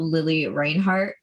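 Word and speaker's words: Lili Reinhart: know if you're keeping up with like what Lily Reinhart, I think that's her name. That's how you pronounce it.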